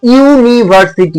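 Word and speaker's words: university: বসাব না কি বসাব যখন উচ্চারণটা হবে ইউ এরকম উচ্চারণ হবে তখন আমরা কি বসাব এখানে এ বসাব এ ইউনিভার্সিটি বোঝা গেছে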